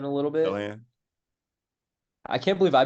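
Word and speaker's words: Sochan: Jeremy Sohan a little bit. Sohan. I can't believe I butchered his name.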